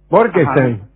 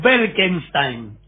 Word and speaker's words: Berkenstein: Berkenstein. ¿Borkenstein? No, Berkenstein. ¿Frankenstein?